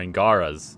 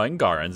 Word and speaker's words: Angarans: Or Angaras. No, Angarans is the proper.